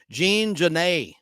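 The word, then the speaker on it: Genet: of the blacks by Jean Jan Jean Jan is spelled j j a an Jan G NE T the t is silent and he was there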